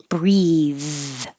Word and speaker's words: breathe: take a deep breath if it's the verb the vowel is e and then th is voiced breathe breathe breathe deeply we didn't do this